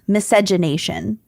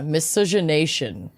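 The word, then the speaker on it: miscegenation: Yeah, the emphasis is on nay. So, yeah, misogynation.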